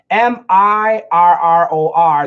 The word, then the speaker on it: mirror: meter meter meter meter m i RR o r that's an R sound mirror mirror there's no touching mirror meter meter mirror meter